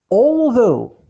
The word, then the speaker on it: although: And although it is made of copper, and although ورغم, although GH at the end we don't pronounce it.